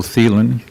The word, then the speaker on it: Thelen: speaker just tell us your name how to spell it and I'll swear you in uh thielen T like Tom H Len and also live